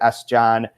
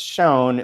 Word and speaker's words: Sjón: John, and people would pronounce it S. John, which he did, and then he's like, no, it's Sjón, like the word for vision.